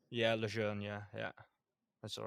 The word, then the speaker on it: Lejeune: So pronounce that right, Lejeune. yeah, Lejeune, yeah, yeah, that's all right.